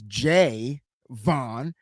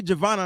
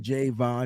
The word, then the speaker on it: Javon: be mad cause I gotta correct you it's J Vaughn because he said that's how he pronounced his name okay I'm just saying hey you know and I'm hearing people say Giovanna and I'm like did you not hear him